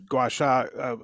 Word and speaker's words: gua sha: you tell everybody, about the Chinese medicine, acupuncture, gua sha? I said it wrong. How do I say that one? Yeah, no, you said it right. Gua I did? sha. Oh, gua sha.